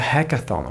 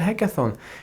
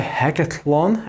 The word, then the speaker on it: hackathon: stress one important thing you need to pronounce it correctly it's a hackathon okay it's a hackathon it's not a hack at one as one of my friends says if you